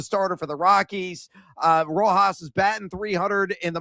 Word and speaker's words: Rojas: Got to roll the R to say it pronounced correctly, Rojas, to get a hit.